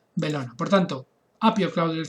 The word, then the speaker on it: Bellona: Y además construyó el templo de Belona, o Bellona, se escribe Bellona, se pronuncia Belona.